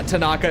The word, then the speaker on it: Tanaka: you every single time Tanaka yeah there you go I would have died if you said one of the like mispronunciations I did the whole time I was wondering if that might happen but no yeah Tanaka is right that was her name